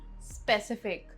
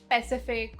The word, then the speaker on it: specific: Word 14, specific, not pacific or specific. Specific.